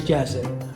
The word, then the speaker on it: Jazi: استني بس how to كده okay I'm good okay My name is a little bit like hard to pronounce, especially in English. So my name is Jazzy.